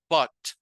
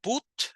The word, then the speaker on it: but: No es una U como tal, sino suena como una mezcla entre una A y una U, como una A y una O, perdón, como but. No but, sino but.